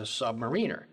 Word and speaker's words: submariner: Submariner, not submariner. Not submariner. That's exactly right. Careful how you pronounce it, because a submariner implies that one is below a mariner.